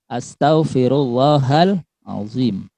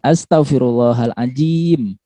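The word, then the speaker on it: أستغفر الله العظيم: Atau zo, huruf za bukan, tapi zo. Astaghfirullahal azim, ya. Astaghfirullahal azim, ya. Jadi bukan astaghfirullahal ajim, ya. itu pakai huruf jim.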